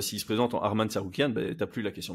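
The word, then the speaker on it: Tsarukyan: on on prend une décision sur fight Arman sarouan voilà voilà désolé si ça froisse des gens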